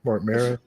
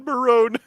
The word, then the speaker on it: Mark Maron: Uh, a Canadian has just told me I didn't pronounce Mark Maron's name approp correctly. What did I say? Did I say Marin? Mark Maron. I think you said Marone.